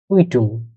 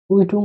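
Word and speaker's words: Quittung: হলো কু উই কে তে উ এন গে কুইটুং কুইটুং অর্থ হলো রিসিভ আমরা বিল যে একটা পাই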